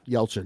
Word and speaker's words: Yelchin: Yeah, Yelchin.